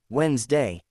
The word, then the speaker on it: Wednesday: English has many words that don't sound the way they are spelled. For example, the word Wednesday sounds like Wednesday.